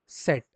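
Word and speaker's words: Zett: में जब प्रोनाउंस करेंगे तो जर्मन में इसको प्रोनाउंसिएशन आपका जो निकलेगा वो क्या निकलेगा एवरीवन सेट क्या बोलेंगे जर्मन में आप इसको सेट ठीक है तो ये जो आपके अल्फाबेट्स होते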